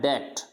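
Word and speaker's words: debt: जैसे कैसे, जैसे इसको डेप्ट नहीं बोलना है, यानी बी को क्या बोलना है, यानी बी को प्रोनाउंस करना ही नहीं है, डेप्ट, ऐसे नहीं कहना डेप्ट, तो डेप्ट गलत हो जाएगा, इसको बोलना है डेप्ट।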